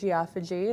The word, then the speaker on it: geophagy: So there are different types of pica, and geophagy is one of them. Also to be pronounced as geophagy, if you are Canadians tend to pronounce it that way.